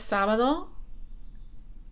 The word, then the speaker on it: sábado: Hoy es sábado. Acento en la A.